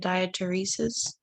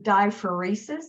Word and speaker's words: diaphoresis: Oh, I was gonna say, I don't know how to say it, diateresis. Okay, diaphoresis.